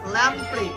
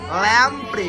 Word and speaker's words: ল্যাম্প্রে: প্রাণীর নাম হ্যাকফিশ বা ল্যাম্পে উচ্চারণটা সঠিক কি করো ল্যাম্প্রে কি বললাম ল্যাম্প্রে very good very good